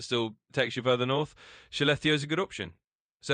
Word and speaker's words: Skellefteå: So Skellefteå, pronounced kind of like Skellefteå, is a town in northern Sweden.